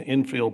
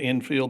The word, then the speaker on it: infill: that an investment in what is properly pronounced the infill program, which I remember during the campaign, there were several people, it was the infield, the outfield, it was all over the board.